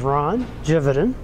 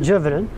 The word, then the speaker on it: Gividen: My name is Ron Gividen, spelled with a G, but it's actually a soft G, like Gemini or Gentry, but Gividen.